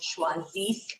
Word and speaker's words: choisisse: liked that you did a double take with choisisse, because yes, the spelling difference, normally it's in